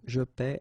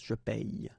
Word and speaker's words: paie: Okay, and in that case it's quite funny because we tend to make the difference maybe in pronunciation. So between this one, je paie, and then some persons can pronounce je paye.